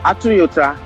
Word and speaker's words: Atunyota: Atunyota is pronounceable. It's like just like a Toyota.